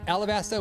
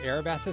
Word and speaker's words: Alabasta: And Melavie says Alabasta with an L.